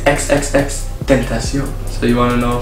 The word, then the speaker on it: XXXTentacion: Try to pronounce. Xxxtentacion. XXXXtentacion. XXXXtentacion. Okay. XXXXtentacion. No, it's XXXXtentacion.